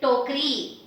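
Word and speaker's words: टोकरी: this becomes even slightly shorter and the stress is taken over at the end with the long matra. So this becomes slightly shorter. So you say tokri, tokri, and tokri means a basket.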